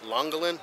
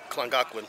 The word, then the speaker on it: Llangollen: So my video I did the other day, I kept calling the town Llangollen, so I think it's actually Llangollen is how you pronounce it.